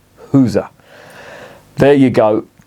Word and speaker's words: Gueuze: have you got any girls and he what are you talking about girls never heard of it he must have done but he wanted me to pronounce it the Flemish way it's a you know